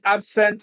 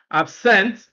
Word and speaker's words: absent: If a two-syllable word is used as an adjective and also as a verb, stress the first syllable when it is an adjective, stress the second syllable when it is a verb.